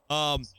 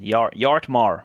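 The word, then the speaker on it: Bjartmar: Drop the B, man. Yartmar. Yartmar.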